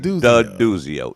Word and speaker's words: D'Aduzio: It's like Maurizio saying D'Aduzio. D'Aduzio. Like milk dud.